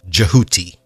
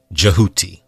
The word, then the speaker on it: Djehuti: was spelled dhw t-y-d-h-w-t-y now this name came to be written as d j e h u t y and pronounced as jahuti jehuti some people spell it